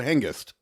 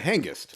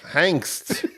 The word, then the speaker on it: Hengist: You said angst the way you should pronounce hangst. Why you hung up on this? First of all, just to be clear, there's no such word as hangst. There is angst. Oh, man. Hengist is a name.